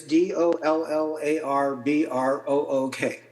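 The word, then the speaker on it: Dollarbrook: Um, and and phonetically it's D O L L A R B R O O K. So, dollar brook.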